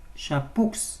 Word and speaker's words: chapeaux: Ne prononcez jamais l'X des mots au pluriel. Tabloux, chapeaux. Non, on ne prononce pas le X à la fin.